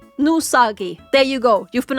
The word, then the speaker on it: Nousagi: my comments was like, "Why are you pronouncing it depressed Nagi instead of depressed no Usagi?" Because he pronounced it that way himself. He calls himself Nusagi.